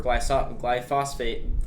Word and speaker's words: glyphosate: Eric Karen Kirsch, and both of them said that GMOs cause cancer or glyphosate, that's how you pronounce that, causes cancers, which are basically the same thing.